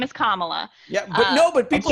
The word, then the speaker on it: Kamala: Yeah, Think of Karma, comma. Karma, It's Karma, Kamala.